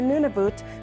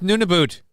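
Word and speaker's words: Nunavut: This agreement is the culmination of decades of work for Nuniboot to have full control. Ah, you said it wrong. It's Nuniboot.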